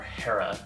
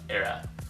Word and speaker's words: Hera: up is from a company called Eda or Hera as you would probably pronounced in English in Korean it's era um yeah this is